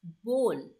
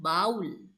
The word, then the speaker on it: bowl: The correct pronunciation for this word is bowl, not bowl.